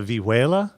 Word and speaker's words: vihuela: And Maria, did you also play, and I'm going to mispronounce this horribly, That's okay. the vihuela?